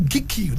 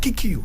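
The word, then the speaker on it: Gikuyu: I will write in my native Gikiyu, not Kikiyu. He said Kikiyu is a Europeanized way to pronounce my people's name. It's Gikiyu language.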